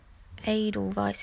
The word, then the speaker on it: edelweiß: to take some edelweiß edelweiß is how you say it sounds funny today and I just put